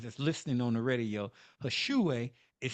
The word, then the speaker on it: Hish'uwe: Hashue is spelled HISH apostrophe UWE.